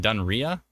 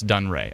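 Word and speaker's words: Dunrea: pronounced that location wrong somebody said it's pronounced dun Ray oh dun Ray what was I saying dun Ria oh it's dun Ray CU it's Rea so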